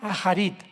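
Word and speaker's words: אחרית: postreros es a charit así como suena con H se pronuncia a jarit achit y tiempos o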